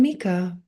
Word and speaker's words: Mika: And Mika, and let me know if I say your name correctly. Yes, you said it right. It's Mika.